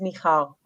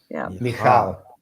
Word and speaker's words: Michal: pronounce your name, and I guess it's pronounced the same way as David's wife.